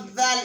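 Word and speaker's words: دال: So dal is pronounced from the same place as tha.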